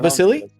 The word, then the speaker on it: Vasily: I don't remember, but is it Vasily, or is the S silent, or do you pronounce the S? Oh, it's Greece. It's Greek. Okay. And do you pronounce it Vasily?